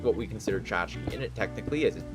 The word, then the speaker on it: tchotchke: Yeah, tchotchke, which is spelt weird. It starts with a T. It's a Yiddish word for trinket.